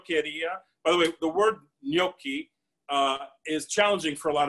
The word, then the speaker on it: gnocchi: tell if you agree know the word no and no and the word key K ey if you say no and